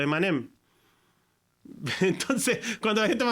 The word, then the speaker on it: Eminem: origen del nombre pero se pronuncia a mí me sonaba homófono a los dulces a los emanem Entonces cuando la gente